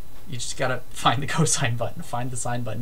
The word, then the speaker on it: cosine: is cosine so it's co sine spelled fully like this c-o-s-i-n-e but abbreviated cos c-o-s still pronounced cosine cosine takes any angle